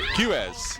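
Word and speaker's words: Quiroz: Remember, it's such an unusual pronunciation of his name. Quez? Yeah, Quez, and it's spelled Q-U-I-R-O-Z, isn't it? Yeah. Well, I wouldn't have come up with Quez. Half the letters are silent.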